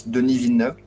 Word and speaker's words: Denis Villeneuve: And just for information, it's Denis Villeneuve. Yeah, well, like any French pronunciation, Matthew always has to go to use that.